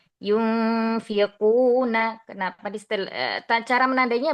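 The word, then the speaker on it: يُنفِقُونَ: Hati-hati dikata yunfiquuna bukan di fanya habati diqofnya yunfiquuna.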